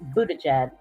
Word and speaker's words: Buttigieg: That's how his name is pronounced, Buttigieg.